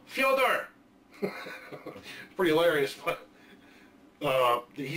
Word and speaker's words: Fyodor: to be said and he pronounces it like amelia fyodor pretty hilarious but uh